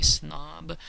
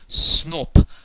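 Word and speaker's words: сноб: The word in Russian for snob is borrowed from English, but they don't say snob, they say snop. The word final voiced consonant B gets devoiced and pronounced as its unvoiced pair, P.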